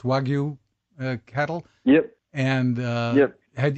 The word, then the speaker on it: Wagyu: about uh your experience with the wag it's pronounced wagu cattle yep and uh had had you experienced